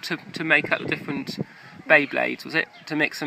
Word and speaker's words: Beyblade: blade bade games B am I saying it wrong beblade it's B blade Beyblade Beyblade yes bade um is that